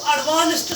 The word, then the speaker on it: advanced: Word लिखा है ADVANCED, इसकी प्रोनाउंसिएशन है एडवांस्ड। एडवांस्ड एंड में ट की आवाज इसलिए क्योंकि यहाँ जो ईडी है, ईडी से पहले जब भी सी होगा किसी भी वर्ब में, किसी भी वर्ब में जब भी ईडी से पहले क्या होगा सी, तो उसकी प्रोनाउंसिएशन होती है ट।